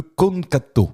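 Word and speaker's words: eukonkanto: Ça s'appelle le konkato.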